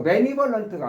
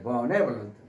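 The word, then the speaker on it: benevolent: 요것도 매니볼런트가 아니라 번네라고 발음해야. 번네런트.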